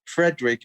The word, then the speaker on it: Fredrik: And then my name is Fredrik, but it's spelled without the C. And it's no E after the D, so it's Fredrik.